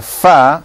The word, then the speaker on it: ف: The inside of the lower lip and the tips of the two front incisors. So your top two front teeth touch the bottom lip. Touch the bottom lip and you get fa.